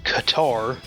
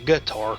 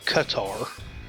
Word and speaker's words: Qatar: use it Kenya Nigeria Qatar not gatar Qatar Saudi Arabia and Sudan